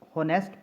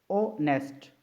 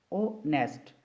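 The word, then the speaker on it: honest: है ऑनेस्ट ओ नेस्ट बाज लोग इसे नेस्ट पढ़ते हैं जो कि गलत प्रोनंसिएशन है इसकी जो एक्चुअल प्रोनंसिएशन है वह हमारे पास ऑनेस्ट ऑनेस्ट तो अब देखें जो वर्ड ऑनेस्ट है एच साइलेंट है यहां पर और वर्ड हमारे पास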